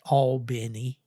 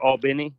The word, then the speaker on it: Albany: center outside of Albany they the locals pronounced that all Benny but um all Benny all beny Georgia yeah yeah I learned